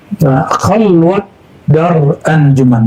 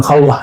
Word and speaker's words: khalwat dar anjuman: Khalwat dar anjuman, bukan khalwah ya.